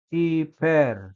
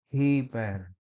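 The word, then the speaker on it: ὑπέρ: ada tanda hembus kasar jadi kita tidak membacanya sebagai iperer tapi hiper ya setiap kata yang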